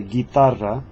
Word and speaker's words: guitarra: G-U-E and the G-U-I, the U is put there just to make the G hard sound rather than soft sound. Because G-I would be pronounced he, and G-E would be pronounced he. So anytime you need to, like for the word guitar, for example, you've got to say guitarra, and that's G-I sound